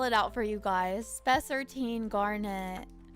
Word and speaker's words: Spessartine: Spencer T. Garnet. No, it's called, okay, I'll spell it out for you guys. Spessartine garnet.